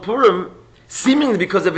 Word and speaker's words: Pur: Anyway, so the Purim, the lottery, how do you say lottery in Persian by the way?